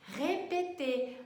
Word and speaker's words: répéter: Isso mesmo, répéter. Mas olha só, répéter.